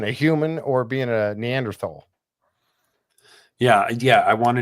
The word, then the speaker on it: Neanderthal: that was the different they talked about neander Neanderthal I thought is it neander tall that's the way they pronounce yeah they pronounce it tall I feel like growing up I always read and heard Neanderthal you know but yeah